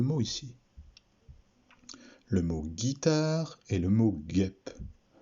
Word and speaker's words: guitare: Le mot guitare et le mot guêpe. Pour faire la syllabe Gui, nous avons rajouté une lettre muette, le U, ici.